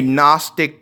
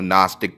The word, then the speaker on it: Gnostic: read like a a Gnostic gospel, which I guess it's a word that has a silent letter because it's pronunciated without the G, but whatever, a Gnostic